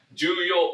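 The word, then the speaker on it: 重要: Yang kedua, Juyo. Ini sering banget keluar pasujel pity. Jadi teman-teman jangan sampai lupa ya. Juyo U ada u-nya ya. Ada U Juyo.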